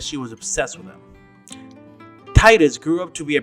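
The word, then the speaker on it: Tidus: Now that I know the real pronunciation, I can't bring myself to continue saying it wrong. Even though Titus sounds a lot better. His name is actually pronounced Titus.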